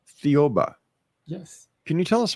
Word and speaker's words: Thiaoouba: Now there's a prophecy that you want to talk about and I cannot figure out how to pronounce it. So I Thiaoouba. I'm sorry? Thiaoouba. Thiaoouba.